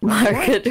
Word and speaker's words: Margot: You said her name wrong, asshole. Margot Robbie. Margot.